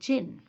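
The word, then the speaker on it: djinn: आया हाउ डिड द जिन इसकी जो प्रोनंसिएशन है बेटा जिन की डी साइलेंट है जिन की हाउ डिड द जिन नो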